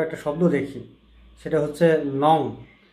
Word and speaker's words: নঞ: শব্দ দেখি, সেটা হচ্ছে নং। অনেকে এটাকে ভুল করে উচ্চারণ করে নইও বা অন্য কিছু নানা রকম উচ্চারণ করে। আসলে শব্দটার উচ্চারণ নইও হবে না, এটা হবে নং অথবা নই।